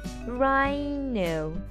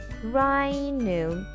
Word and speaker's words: rhino: So rhino, rhino. So here there is something I need you to understand. Rai, the H here is silent, so we have to write till the I.